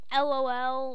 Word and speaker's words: LOL: You know the thing LOL, like laugh out loud, that makes sense, that is pronounced lol?